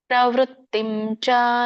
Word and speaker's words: ಪ್ರವೃತ್ತಿಂ: ಮೋಕ್ಷಂ ಚಯಾವೇತಿ ಬುದ್ಧಿಸ್ಸಾಪಾರ್ಥ ಸಾತ್ವಿಕಿ ಇದರ ಉಚ್ಚಾರಣೆ ಪ್ರವೃತ್ತಿಂ ಪ್ರವೃ ಪ್ರ ವೃ ನೋಡಿ ವ್ಯತ್ಯಾಸ ಪ್ರ ಕೇಳಿಸುತ್ತೆ ಇದು ವೃ ಕೇಳಿಸುತ್ತೆ ಪ್ರ ವೃ ಪ್ರವೃತ್ತಿಂ ತಕ್ಕೆ